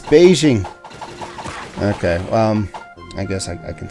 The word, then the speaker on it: Beijing: Like Beijing. We usually say Beijing. Like the color. Beige. The whole city is Beijing.